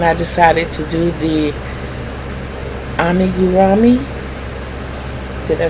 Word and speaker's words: amigurumi: That's why when I decided to do the amigurumi, did I say it right?